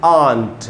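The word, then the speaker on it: aunt: जैसे ये वर्ड है ए यू एन टी इसको हमको पढ़ना चाहिए आंट बोलते हैं ना आंटी तो आंटी को ही शॉर्ट में आंट भी बोलते हैं देखिए ये रहा इसका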